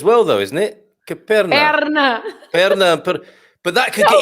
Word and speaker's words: perna: for leg, you have an extra letter. P-E-R-N-A. And then on this first syllable, you open the E, and Perna.